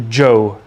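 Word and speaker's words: Zhou: the the uh the Joe State at the high point of this state Joe is spelled Zed uh-h-o-u and the the so-called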